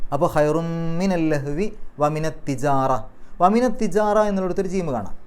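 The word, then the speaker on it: تجارة: അപ്പോൾ തിജാറ, തിജാറ, തിജാറത്ത് എന്നല്ല. അവിടെ പലപ്പോഴും തെറ്റിയിട്ട് നിർത്തുമ്പോൾ വമിനത് തിജാറത്ത് എന്ന് പറയും, കാരണം അവിടെ താ ആണ് അവസാനത്തിൽ. പക്ഷേ പാരായണം നിർത്തുമ്പോൾ അവിടെ സുക്കൂനുള്ള ഹാ ആണെന്ന് വിചാരിച്ച് തിജാറ, ഹ് എന്നുള്ള ഉച്ചാരണമാണ് അവിടെ അവസാനം കൊടുക്കേണ്ടത് നിർത്തുകയാണെങ്കിൽ.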